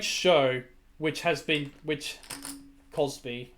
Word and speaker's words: Cosby: came out about Bill Crosby it's a great show which has been which Cosby okay Cosby sorry Cosby Bill Cosby sorry I'm mispronouncing it and such but yeah